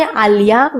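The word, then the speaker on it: allá: You can even say aliyah which means over there a l a accent on the a.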